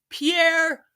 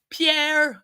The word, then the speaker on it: Pierre: today his name is Pierre Pierre I cannot say this name without my Montreal coming out my French Canadian comes out when I say his name his name is Pierre